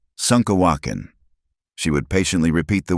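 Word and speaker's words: šúŋkawakȟaŋ: "You say wrong," Kimama would giggle when Eliza mispronounced a word. "Like this, Sunkawakin."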